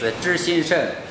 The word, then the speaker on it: ZhiXingSheng: Oh, my company name is in Chinese is ZhiXingSheng Electronics Corporation Limited, and